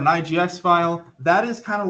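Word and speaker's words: IGES: they when they were they pronounce it they skip the e but it's called an IGS file that is kind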